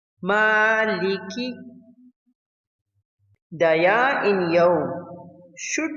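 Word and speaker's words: مَٰلِكِ: The Mim in Maliki should be pronounced clearly without completely closing the lips. Maliki.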